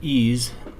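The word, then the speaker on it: EES: e which is pronounced ease is an acronym for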